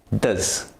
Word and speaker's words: does: do at the weekends does is weak it's pronounced does he at is also weak